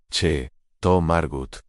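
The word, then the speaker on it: Château Margaux: Se pronuncia che to Margut, correctamente, ¿cómo puedes explicar algo que claramente no entiendes?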